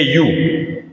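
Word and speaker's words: ewe: अगला है ए यू। यू मतलब जो मादा भेड़ होती है उसको बोलते हैं यू। तो इसका उच्चारण ये के अनुसार आया, तो ए का यूज किया।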